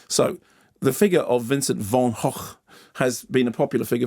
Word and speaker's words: van Gogh: we established a couple of weeks ago that vanov isn't pronounced vanov is pronounced Von HW okay yes so the figure of Vincent Von Haw has been a popular figure for Cinema it's